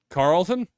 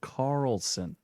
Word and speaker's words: Carlson: Well, I guess I don't follow Tucker Carlson, so I don't know how stupid he is, but he's pretty You can't stupid. even say his name right, so Carlton? it's not Carlton.